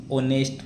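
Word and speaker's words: honest: देखो ही इज ऑनेस्ट मैन। इसमें H silent है और नेस्ट मैन यानी स्वर की ध्वनि आ रही है।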